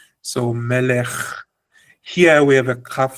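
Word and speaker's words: מלך: Here in melech, the Sheva says, don't put a vowel, pronounce kaf as normal. Melech, without a vowel.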